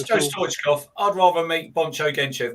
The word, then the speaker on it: Stoichkov: That I knew it was Stoichkov and not whatever else I could have pronounced there.